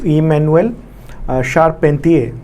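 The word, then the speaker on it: Emmanuelle Charpentier: Okay, Hindi में यही उच्चारण होता है इसका। कई जगह आपको डिफरेंट उच्चारण देखने को मिलेंगे, लेकिन जो मैंने नोबेल प्राइज़ का जो अनाउंसमेंट हुआ उस दौरान जो मैंने सुना वो ये उच्चारण था।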